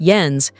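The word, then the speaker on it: Jens: Astrup, whose first name is pronounced Yens, told his General Hospital co-star, how his father committed suicide when Yens was 15.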